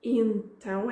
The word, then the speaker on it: então: And notice I didn't quite pronounce it então, I said tão, então. It starts with a slight nasal sound and then tão, então.